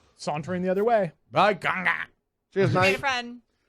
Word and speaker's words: Kanga: Kanga. Thank you, though. He's very pleased that you're pronouncing his name correctly.